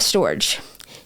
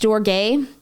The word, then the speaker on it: storge: them when they need you then we have storage technically it's pronounced storge but I'm going to pronounce it storage is